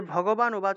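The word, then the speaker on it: ভগবানুবাচ: আছে শ্রী ভগবান উবাচা এই যে ভগবান উবাচ আছে না এটিকে ভগবান উবাচা এভাবে উচ্চারণ করব অর্থাৎ শ্রী ভগবান বললেন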